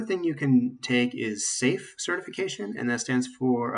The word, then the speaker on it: SAFe: you can take is safe certification and that stands for uh scaled agile frameworks s-a-f-e the e is silent but um that's good